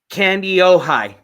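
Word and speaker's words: Kandiyohi: Okay, Candy-Ojai.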